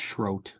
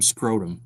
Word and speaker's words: Schroth: The first is a original painting from Schroth. Am I saying Schroth right? You have Schroth? It's just Schroth, yeah.